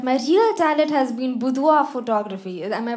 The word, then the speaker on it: boudoir: So boudoir is like a Frenchish word.